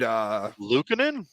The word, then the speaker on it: Luukkonen: It's one of those weird Luukkonen? Yes, thank you. Ukko-Pekka Luukkonen.